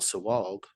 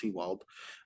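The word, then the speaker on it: Sewald: go to relief pitcher Paul sawalg as you would say but it's pronounced SeaWorld um his competition is Emmanuel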